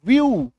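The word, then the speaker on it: view: आगे बढ़े, चलो नेक्स्ट देखो, जब किसी वर्ड में ई के बाद डब्ल्यू आ जाए, ई के बाद डब्ल्यू आ जाए तो ई डब्ल्यू का उच्चारण जो है वो क्या बन जाएगा, यू, यानी कि बड़ी उकार की मात्रा, यानी कि बड़ी उकार की मात्रा, तो एफ ई डब्ल्यू फ्यू, वी आई ई डब्ल्यू व्यू, due, stew, ठीक है,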